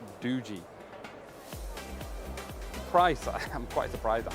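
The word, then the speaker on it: Doogee: Do how do you pronounce it? Dooji. Dooji.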